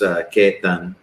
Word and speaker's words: Ketan: It's pronounced Ketan, and I'm the founder of HireClub.